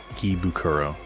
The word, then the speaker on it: Ikebukuro: Ikebukuro.